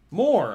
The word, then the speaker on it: Moir: All right, how do you pronounce Moir? Moir. More, okay.